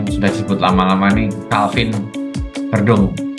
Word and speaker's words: Verdonk: Dan kita akan ke pemain ketiga ini pemain yang sudah disebut lama-lama nih, Calvin Verdong. Ini bacanya Verdong kalau Belandanya, Verdong.